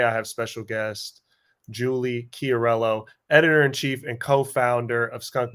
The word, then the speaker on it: Chiariello: be here with you you did good too on the pronunciation of my name started in my head a few times I was intimidated when I read it you broke it down into syllables made it nice and easy for me so I